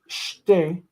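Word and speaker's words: שתי: In order to make it shtei, to make sure that tav is a T sound, they inserted the tav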